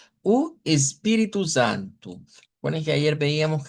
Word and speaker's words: espíritu: espíritu, teniendo en cuenta que la vocal tónica es la pi, de aquí, espíritu, entonces u espíritu, si separamos las sílabas vendrían siendo así.